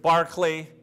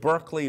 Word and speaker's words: Berkeley: thought so the philosopher bishop barkley for whom the university of berkeley was named after be nice if they got the pronunciation right but you know barkley